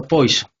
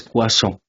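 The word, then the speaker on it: Poisson: No se pronuncia poison, se pronuncia cuazo. Profe, pero ¿por qué si ahí dice poison? Sí, yo lo sé, pero se pronuncia cuazón.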